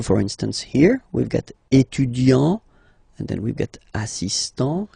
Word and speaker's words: étudiant: Il est étudiant. Okay, A-N-T, étudiant. Okay, but then for the feminine form, elle est étudiante. Okay, t, t, t. Okay, you don't really insist on the but you insist quite much on the T.